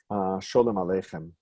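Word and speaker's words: Sholem Aleichem: interwar years and earlier, Shalom Aleichem. That was a Yiddish pronunciation, right, of Shalom Aleichem.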